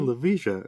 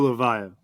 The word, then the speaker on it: Levija: what you're saying I'm like I've been saying Lisha and he had well Joe Joe levia I appreciate I appreciate you coming on here